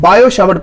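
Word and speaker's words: Biot–Savart: यानी वो होता है साइलेंट होता है। बायो शैवर्ट पढ़ते हैं, बायोट शैवर्ट होता है, पट्टी क्या होता है साइलेंट होता है, इसलिए बायो शैवर्ट पढ़ते हैं इसको।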